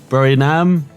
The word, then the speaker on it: Buriram: And for next time, so I don't forget, it's a bit easier around Thailand, as next time they head to the Buriram circuit, is how you say it, as Mayo